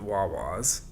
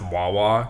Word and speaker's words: Wawa: I guess people don't pronounce Wawa correctly, so it's like it rhymes Wawa. with it rhymes with saw.